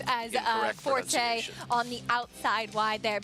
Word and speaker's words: Forte: for calling him Forte it's the Italian pronunciation they're going with as uh Forte on the outside wide